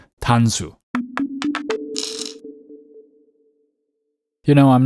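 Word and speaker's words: 단수: let's start with that how do you say Atari in Korean well it's tanu one more time Atari in Korean is tanu and you may hear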